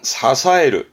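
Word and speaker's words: 支える: 훈독은 발음은 사사에르 하게 되면 뜻은 그대로 지탱하다, 뭔가 떠받치는 의미로 쓰게 됩니다.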